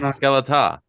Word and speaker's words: Skeletá: I can't pronounce anything. It's Skeletá. Skeletá.